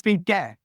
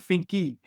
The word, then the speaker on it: Finke: So it's Finke, not Finky.